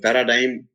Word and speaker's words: paradigm: We in aesthetic A is silent, or in jar or indite C is silent, or in paradigm or resign G is silent, or in knife K is silent, or in mnemonic M is silent.